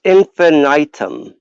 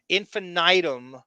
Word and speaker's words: Infinitum: bring this up uh you know how you can't pronounce his company infinite yes it's infinitum i've tried that and i've heard him say it and he didn't hit the eye like that i've heard 500 different pronunciation i like your pronunciation the best infinitum is really that's the way that that's got to be what it is i i'm yeah i'm